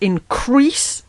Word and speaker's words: increase: "But that our loves and comforts should increase," emphasis on the last syllable, "crease," loud, "even, 1, 2, 3, 4, then loud again, "as our days do grow," emphasis on days.